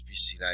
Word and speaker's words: piscina: So when the word ends in a vowel, N or S, place the stress on the next to last syllable.